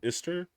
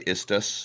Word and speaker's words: Istus: deal with uh with iser the god of Fate I think is what I think I think I have the name wrong sorry istus istus yes sorry istus yeah with